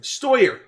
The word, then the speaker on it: Steuer: Steuer.